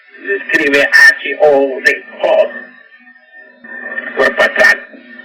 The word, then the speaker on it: Hod: Y a Hod, se escribe H-O-D, Hod, cuerpo astral.